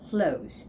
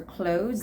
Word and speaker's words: clothes: So you don't even have to make an effort to make that TH sound. So just think that it's clothes, okay? For clothes that are both affordable and stylish, clothes, clothes.